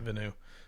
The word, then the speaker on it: Villeneuve: Villeneuve, that's it, Villeneuve.